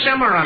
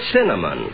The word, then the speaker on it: cinnamon: Cimarron. You see, Mary? Look, mister, it's such a simple word. You just pronounce it like it's spelled. C-I-N-N-A-M-O-N. C-I-N-N-A-M-O-N? Yes, Cimarron.